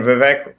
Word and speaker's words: Vivek: but like you know Vivek ramaswami just sounds like okay rhymes with King rhymes with cake rhymes with cake freestyle